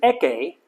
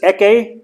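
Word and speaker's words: ἔχῃ: And notice eke, the iota subscript, Oh yeah. but doesn't help with pronunciation. It's silent, but it's there.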